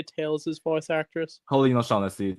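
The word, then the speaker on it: Colleen O'Shaughnessey: Colin O'Shaughnessy.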